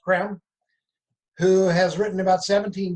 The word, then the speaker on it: Creme: benjamin creme spelled c-r-e-n-e it looks like cream but it's pronounced creme who has written about